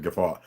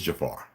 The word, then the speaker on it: Jafar: course he's a Jafar somebody was wondering if I pronounced it gfar it's Jafar uh no actually let